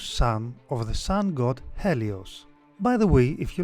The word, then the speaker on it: Helios: Overall, Phaethon is usually described as being the son of Helios, in Greek pronounced Ilios. In some other accounts, like Hesiod, Helios is his grandfather.